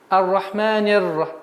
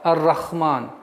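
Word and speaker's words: الرحمن: Из самых распространенных и грубых ошибок это вместо буквы Х произносить звук Ха. Ар-Рахман.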